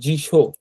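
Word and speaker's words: 辞書: তারপর জিশো, দেখেন শির উপরে তেন তেন, তারপরে শি, তারপর এই ইওটা কিন্তু ছোট ইও। তো ছোট ইও মানে হচ্ছে এটা যুক্ত বর্ণ, তাই না। তো জি, আর এটা শিও হবে না, এটা শো হবে। তো জিশো, তো জিশো কথাটার উচ্চারণ এখানে লেখা আছে।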